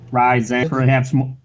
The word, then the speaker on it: Ryzen: The AMD CPU architecture is now called Ryzen, pronounced Ryzen.